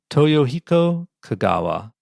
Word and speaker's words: Toyohiko Kagawa: in that direction again say his name again toyohiko Kagawa T Yo h i KO o Kagawa yeah